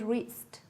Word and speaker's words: wrist: W, R together, W is silent.